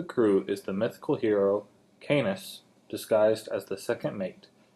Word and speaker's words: Caeneus: So, one, that Canis, that's how I pronounce it. I've never heard it said. Like a lot of things, I've just read it. It's Caeneus. I'm sorry, Caeneus. Alright? Call him Canis. It's probably the wrong pronunciation. My apology to the Greeks.